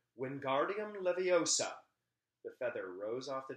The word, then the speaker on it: Wingardium Leviosa: much more luck when guardium leviosa ron shouted waving his long arms like a windmill you're saying it wrong harry heard hermione snap it's wingardium leviosa like the gar nice and long then you do it